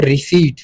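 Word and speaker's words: receipt: सबसे पहला हमारा जो वर्ड है इसको हम प्रोनाउंस करते हैं रिसीव। ठीक है? इसमें हमारे पास पी साइलेंट है।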